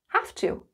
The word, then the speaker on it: have to: Notice the pronunciation, have to.